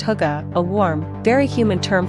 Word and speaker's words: hygge: world the concept of hygge pronounced hookah a warm very human